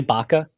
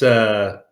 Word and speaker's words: Bacha: Is this woman's name literally Baka? No, it's Bacha.